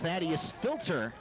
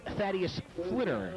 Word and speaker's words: Thaddeus Flitter: And actually, I mispronounced that name. That's Thaddeus Flitter.